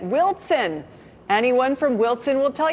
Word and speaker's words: Wilson: He wrote, for your continued education, Wilson is properly pronounced with a T in it, Wilson.